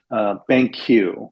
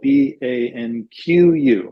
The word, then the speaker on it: BanQu: doing some really interesting stuff, and it's called BanQ, which is spelled BANQU, BanQ.